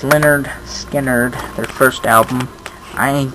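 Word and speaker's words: Lynyrd Skynyrd: it's less same same songs I guess uh pronounced Leonard Skard their first album I ain't the one.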